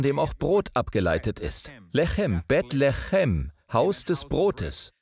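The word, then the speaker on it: לחם: Es wird genau gleich geschrieben. Lechem. Lacham. Es wird nur anders ausgesprochen.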